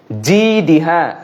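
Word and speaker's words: جيدها: জিদিহা মিম মাসাদ এখানে জিদিহা জিম জিম উচ্চারণটা যেন ঠিকভাবে হয় এই আলোচনাটি করছিলাম ফিজিদিহা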